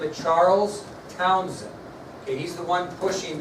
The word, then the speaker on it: Townshend: What they did pay attention to was our next subtopic, the Townshend Acts. The Townshend Acts. The Townshend Acts. It's spelled a little differently than what you might think.